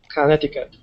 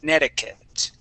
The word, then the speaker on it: Connecticut: connect Connecticut but uh as you know we don't pronounce things the way that we spell them quite often Conneticut okay okay um and